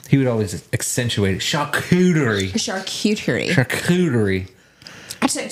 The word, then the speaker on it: charcuterie: First of all, don't pronounce it charcuterie. How do you gonna say it? No, you're right. He says it wrong. But say it. Charcuterie. Yeah. There's no. It's charcuterie.